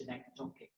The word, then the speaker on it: synecdochic: It's from synecdoche, so it's synecdochic.